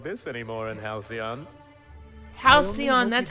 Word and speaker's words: Halcyon: don't make them like this anymore in Halcyon Halcyon that's how you pronounce it okay now what business brings you